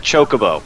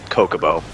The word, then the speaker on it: Chocobo: what the name is like like chocobo which i'm pretty sure is the proper pronunciation but when i was playing final fantasy it was definitely it was definitely uh kokobo all through playing those games okay i never actually